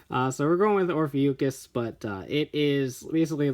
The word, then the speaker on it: Ophiuchus: And number 6, Naga Ahe Hebitsukai Silver, based on the constellation Ophiuchus, is how I'm going to say it, because that is what my little lookup thing told me when I asked how to pronounce it.